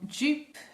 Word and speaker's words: Joop: So this is my only fragrance from Joop, if you're going to pronounce it in the British way, and it's called Le Bain.